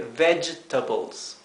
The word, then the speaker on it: vegetables: vegetales vegetables fíjense que la g g e verdad la g seguida de la letra e se pronuncia J J así que vegetables la palabra para fruta